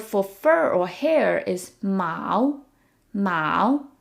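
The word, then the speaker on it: 毛: The word for fur or hair is ma. Ma. It sounds like the word for cat, but it's a different tone.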